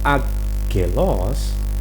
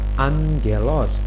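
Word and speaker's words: ἄγγελος: Jadi bacanya bukan agelos, tapi bacanya adalah angelos, di mana huruf gamma yang pertama bunyinya adalah N.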